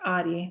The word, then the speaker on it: Ari: generally speaking Yeah Alicia my name is pronounced ADI the r is like a d uh I didn't correct